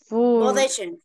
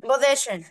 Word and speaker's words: position: تمام كاركترز جوس بوسيشن بوزيشن بوزيشن. دايما لما تلاقي حرف الاس ما بين حرفين من حروف الباول انطقوا زي الذاد. بوزيشن بوزيشن بوزيشن forever position.